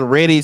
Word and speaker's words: Reddy: like is ready, set, go. Like that's how it's spelled.